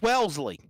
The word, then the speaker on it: Wellesley: I heard Wellesley like 6 times in a row. Ain't it Wellesley, Massachusetts? Yes. It's Wellesley. Wellesley, yes. So it's like Wesley.